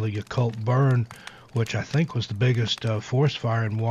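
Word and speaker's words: Yacolt: went into the town it's called the occult y-a-c-o-l-t that's pronounced the occult washington and i just got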